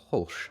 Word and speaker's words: Hulce: Uh, Tom Hulsh. Hulsh. I think it's Hulse. Yeah. starring Tom Holtz.